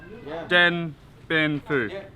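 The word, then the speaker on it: Điện Biên Phủ: name of the next town get being cool then bin food they go then bin food I sound like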